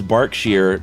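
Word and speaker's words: Berkshire: So, it's Barkshere, but it's spelled Burkshshire.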